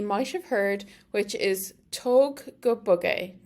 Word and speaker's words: tóg go bog é: And then bug obviously pronounced like bug in English, B-U-G, and then E has a fada, so that's long, so it's A.